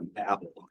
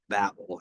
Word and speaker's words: Babel: Tower of Babel or Babel as the professors pronounce it when you get in and actually research it and you listen to people who are talking about the Tower of Babel it is Babel not Babel but as a kid it